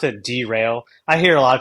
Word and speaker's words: Drail: uh derail Diagnostics uh and that's how you pronounce it derail I hear a lot of people like derail